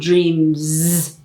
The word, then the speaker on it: dreams: Put the S, it's a Z sound, dreams, okay?